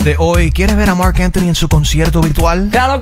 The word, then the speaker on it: Marc Anthony: I just want to correct you, you said it wrong. Lo dijiste mal. Es Marc Anthony.